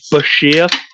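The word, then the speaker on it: bichir: But yeah, as he put in his book, it's pronounced Bashir.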